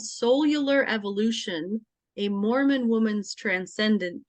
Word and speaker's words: Soul-U-Lar: title so it's called cellular Evolution a Mormon woman's Transcendent Journey To Love and it's spelled s-o-u-l hyphen U hyphen l-a-r cellular and that title came